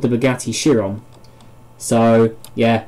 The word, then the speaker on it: Chiron: of these names but yeah I believe that is pronounced Chiron so that's the correction from one of the previous episodes right called it Shawn but honestly is the same spelling as the bugatti chiron so so makes sense